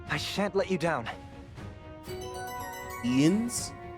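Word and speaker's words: Jens: Ians? The J is pronounced as an I?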